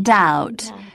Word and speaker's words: doubt: preferable comfortable and vegetable bee must not be heard in doubt debt and dumb both leave it out in the words psychology